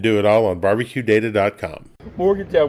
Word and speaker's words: Morgantown: Morgantown, we stop at 3 syllables.